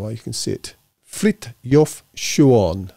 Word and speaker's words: Frithjof Schuon: you can see it, Frithjof Schuon, apparently is how it's pronounced. I'm sure I'll be corrected, but that's what I got when I looked him up.